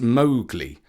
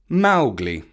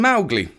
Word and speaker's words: Mowgli: It is pronounced Mowgli, accent on the Mao, which rhymes with cow. So that is why we're pronouncing his name Mowgli, just as Kipling instructed.